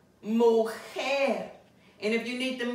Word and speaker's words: mujer: Now remember we said if a word ends in a consonant other than an N, R, and S, the last syllable will receive the stress.